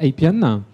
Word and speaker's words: Appian: Alors les deux sociétés concernées, c'est d'abord Appian, je prononce à l'anglaise, voilà, monsieur Laurent Chaillet.